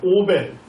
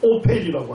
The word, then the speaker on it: 오펠: 오벨. 오벨이 언덕이라는 뜻입니다. 히브리어로 발음하면 오펠이라고 합니다.